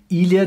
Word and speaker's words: ilha: Other complicated sounds are the LH and NH combinations. Ilha, this means island, or dinheiro, which means money.